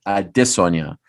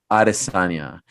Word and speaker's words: Adesanya: manager tim simpson said the way arielle is saying it is the actual real way a disonya however because no one else is saying it that way izzy has kind of decided that he just wants it to stay aristanya so they've decided espn